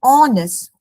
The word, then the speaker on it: honest: But I noticed sometimes my student in instead of saying honest or the silent H they pronounce it as horse.